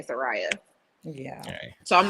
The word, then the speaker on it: Saraya: It's Saraya, by the way. Saraya, sorry. I'm trying to say it correctly because I keep saying Saraya.